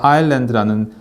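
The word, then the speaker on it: island: 자, 이때 s는 소리를 내지 않는 무음이라서 어 아이스랜드나 이랜드라고 발음하지 않도록 주의하는 것이 필요합니다. 그래서 아랜드라는 발음인데 섬이란 뜻입니다.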